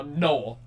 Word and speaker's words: Noel: It's like, it's one syllable. It's not It's like Nathan for the N and then Joel. So Noel. No, well, just think Christmas.